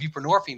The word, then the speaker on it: buprenorphine: is a lighter methadone it's called buprenorphine that rhymes with morphine and and so it's